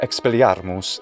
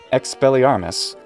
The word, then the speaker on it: Expelliarmus: this this is difficult expelliarmus is what i would want to say but it's not latin so there's no reason to actually pronounce it with any kind of real latin pronunciation expelliarmus this clearly seems to